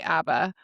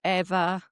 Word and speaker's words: Ava: Every Uber driver I've had, it's Eva. Like it's it's EH is how they're pronouncing like the Eva A. or Ava. Yeah.